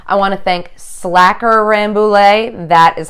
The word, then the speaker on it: Rambouillet: ANSI Kitty calm I want to thank slacker Rambouillet that is how it's pronounced slacker Rambouillet fiber and lamb for the